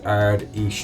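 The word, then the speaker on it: Ard Fheis: So Taoiseach Leo Varadkar, in his Ard Ish speech, Esh, I believe that's pronounced, said Fine Gael is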